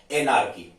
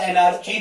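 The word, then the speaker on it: anarchy: एनार्की या एनार्ची भी आप कह सकते हो, प्रोनाउंसिएशन दोनों चलते हैं उसमें।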